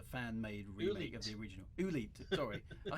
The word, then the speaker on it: Oolite: quite popular with a certain member of the Oolite forums named Mr. Wagar. I remember this because we first came across each other in Olite, didn't we? Which was a fan-made remake of the original. Oolite, sorry.